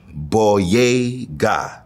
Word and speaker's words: Boyega: John Boyega. Bodega, but then just add that Y for everyone in New York.